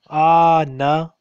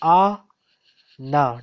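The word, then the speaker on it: أنا: Pattern Noon Pattern An Anna Anna Anna Look, this is not Anna. This is not Anna. This is A-na. You have two voices here. You have two syllables here.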